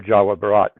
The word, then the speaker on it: Jawa Barat: district west Java Indonesia or Jawa Barat That's how you say it in Indonesian.